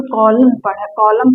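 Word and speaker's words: column: इसे कॉलम पढ़ा जाता है, कॉलम नहीं पढ़ा जाता है।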